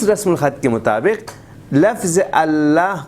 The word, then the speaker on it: اللہ: کے مطابق لفظ اللہ, قرآن کو اٹھا کے دیکھیں یہاں پہ زبر لکھا ہوا ہوگا, لیکن آپ پڑھیں گے الف کے ساتھ. ہجے میں تو آپ زبر ہی پڑھیں گے لیکن کھینچ کے پڑھیں گے.